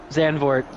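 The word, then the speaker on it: Zandvoort: xand for it's got It's got two o's though there should be an ooh right it should be an ooh sound I mean if you were to pronounce it in native tongue they probably roll that o a little bit more but xanor is the you know well adopted well understood name I see it and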